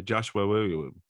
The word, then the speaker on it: Joshua Williamson: Every time you say Joshua Williamson, you go Joshua Williamson.